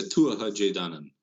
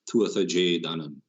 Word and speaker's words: Tuatha Dé Danann: The Tuatha Dé Danann, or the Tuatha, they would have pronounced the TH at the time. Tuatha Dé Danann. Tuatha, a new word, DE, a new word, DANANN.